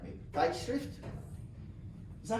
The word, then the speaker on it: Zeitschrift: have German professors, you have to correct me, Zeitschrift? Is that how it's pronounced? Zeitschrift.